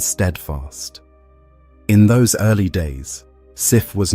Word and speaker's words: Sif: The goddess Sif's name in Old Norse is pronounced Sif, Sif, though it is often anglicized to Sif, Sif.